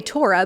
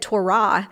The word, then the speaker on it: Torah: In the Hebrew, the accent tends to be on the second syllable, so they would say Torah.